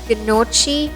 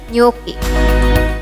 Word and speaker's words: gnocchi: While some people say it as Gnocchi or Gnocchi, it's actually pronounced as Gnocchi. Remember that when you see a CH on an Italian word, it has to be pronounced like a K, and if you see a GN, it's Ñ.